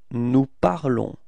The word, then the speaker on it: nous parlons: Nous parlons. Okay? So keep in mind that final s is not pronounced, okay? So it's only this on, the sound on at the end of this verb, okay?